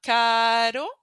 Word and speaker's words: caro: We have caro and carro. Can you hear the difference?